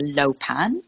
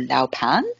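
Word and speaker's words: luopan: special Compass called the low pan or Lao pan depending on where you are in the world that you pronounce it and it's about calculating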